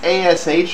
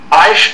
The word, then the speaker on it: Aish: this Hebrew words and you're gonna have to spell that. Like the Big Bang and the appropriate explosion variable. It's ASH Audio? Aish Audio, A-I-S-H.